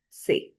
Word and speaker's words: ces: And the pronunciation of this and this is the same, set. This is sir and this is say.